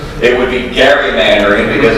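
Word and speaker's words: gerrymander: way I told somebody this earlier the term Jerry Mandarin first of all it's in accurate second of all it's mispronounced it would be Gary Mandarin because it's elri Gary who they named it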